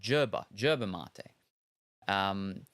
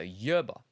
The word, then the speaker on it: yerba mate: South Americans who have been drinking it all their lives seem to pronounce it with a J sound. Okay, so like germ, so yerba mate.